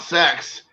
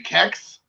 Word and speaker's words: CeX: i mean i mean i would have to say you pronounce it sex i mean what are you gonna say kecks i don't know so